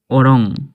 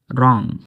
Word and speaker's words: wrong: অনেক লোকে WRONG একে বলে ওরং, না রং।